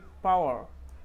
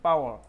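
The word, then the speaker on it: power: তারপরে এটা হচ্ছে কি পাওয়ার, পাওয়ার অ সাউন্ড লাস্টে আমরা পেয়েছি অ সাউন্ড, পাওয়ার, পাওয়ার অতটুকুই পাওয়ার, এটাতে আর র আবার আমরা উচ্চারণ করতে না, পাও অ অতটুকুই পাও, পাওয়ার, ঠিক আছে।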